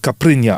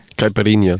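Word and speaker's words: caipirinha: You could fill it up with a caprinia. Am I saying it wrong again? How do you say it? Caparinia. Caparinia.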